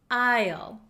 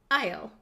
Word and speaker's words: aisle: one is tricky H there is an s in this word however we do not pronounce this s we do not pronounce it we pronounce this word Isle Isle Isle so it